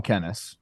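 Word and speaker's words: Kennys: Kenny? It's not Kenny. Well, it's Kenny, but we call him Kennis. Kennis. Well, there's an S at the end of his name.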